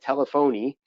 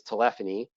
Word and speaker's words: telephony: it the first time they sometimes call it telephony but the actual pronunciation is telephony and basically what means